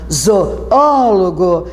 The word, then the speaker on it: zoólogo: Porque se você fizer o que eu te pedi, separa as sílabas, marca tônica, você conta de trás para frente, última, penúltima, antepenúltima, zoólogo, e você viu que caiu na antepenúltima.